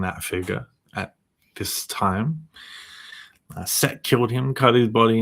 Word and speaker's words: Z: In the beginning was the word the sword zed is pronounced set in Norwegian. So the letter Z is pronounced set in Norwegian which was an interesting